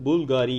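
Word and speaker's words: Bulgari: அதாவது இதோட ஸ்பெல்லிங் வந்து பிவிஎல் தான். இதை வந்து ப்ரொனவுன்ஸ் பண்ணும்போது பூல்காரி அப்படின்னு ப்ரொனவுன்ஸ் பண்ணணும்.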